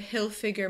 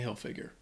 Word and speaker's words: Hilfiger: is a name uh I think people may mispronounce the last uh the the last name the first name I think is easy Tommy everyone knows that but Hill figure might be a little bit more confusing so that's how you